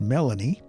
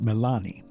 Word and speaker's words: Mélanie: life and work of Milani bonus now if you look at her name you might be thinking it's pronounced Melanie but most of the time I've heard it pronounced Milani she was born on